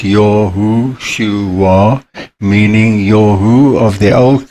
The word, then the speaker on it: Yahushua: And in the New Testament, as Yahushua HaMashiach, pronounced Yahushua, meaning Yahu of the Old Covenant, the YHVH, has become human and He has come to deliver us.